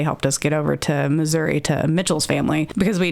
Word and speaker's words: Missouri: Like, if you say it right, it's Missouri.